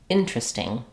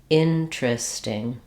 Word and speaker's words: interesting: common pronunciation is just interesting interesting interesting you'll notice interestingly that the vowel also changes interesting rather than interesting we move to a more of an i vowel it's also reduced interesting and an interesting